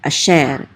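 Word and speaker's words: אֲשֶׁר: Chatef patach says ah, and this is a shin with its segot, which says e, so, and the resh together closes out that syllable. So this is sher, asher.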